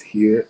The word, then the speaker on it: hir: or you will see h i r which is pronounced here and it's in the